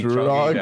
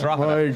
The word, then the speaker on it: Drogheda: In fairness to Martin, it probably should be how it's pronounced. It should be Drogheda. But it's not. It's Drogheda.